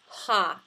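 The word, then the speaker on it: ה: patak or hey comets ha is the pronunciation for both of those when this prefix occurs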